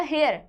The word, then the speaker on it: heir: अगर हम इसमें टी साइलेंट कर देंगे तो इसका हो जाएगा हेयर।